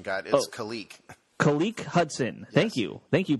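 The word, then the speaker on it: Khaleke: know how to pronounce it we got a pronunciation guide kalique kalique hudson thank you thank you pronounce her guy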